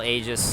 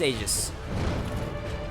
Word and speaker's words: Aegis: I think it's pronounced Aegis. It was Aegis. I looked it up in my lore video when I talked about it, but now I'm not remembering if it's Aegis or Aegis, but I believe it's Aegis.